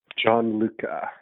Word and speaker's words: Gianluca: Gianluca.